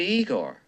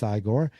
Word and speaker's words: Igor: You must be Igor. No, it's pronounced Igore. But they told me it was Igor. Well, they were wrong then, weren't they? It's pronounced Iiggore.